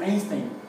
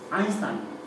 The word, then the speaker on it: Einstein: Similar, vamos, no dicho del mismo sentido, el diptongo EI se pronuncia AI, como por ejemplo don Alberto, no es Einstein, es Einstein, ¿sí?